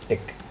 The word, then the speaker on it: TeX: in brain x so we should not call it as X we have to collect aspect so to be pronounced as thick so this will be